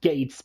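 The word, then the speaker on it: Geiz: resistance fire called gates uh g-e-i-z but it's pronounced gates because well uh uh iconography uh well symbolism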